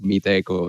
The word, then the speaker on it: Meetecho: the english language so we didn't realize that the extra h in there would actually sound like echo rather an eco and so we soon realized that everybody was starting to pronounce the company like meet echo instead of meeting and